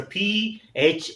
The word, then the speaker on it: phlegmatic: phlegmatic, it's a P-H-L-E-G-M-A-T-I-C, then matic goes in the other syllable and phlegm remains, G remains in first syllable. So this is split into two syllables, so that's why G is pronounced, so it becomes phlegmatic.